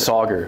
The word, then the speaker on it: Sagar: How did you meet Sagar in the first place? Or did I pronounce it right? Yeah, Sagar. You got it. Sagar.